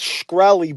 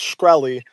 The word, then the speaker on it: Shkreli: It's Shkreli, by the way. We're from fucking Malsia Mala, so it's Shkreli.